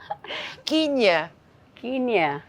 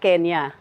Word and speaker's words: Kenya: ha kinya ah parang sa not kenya well it's spelled like that oo kenya o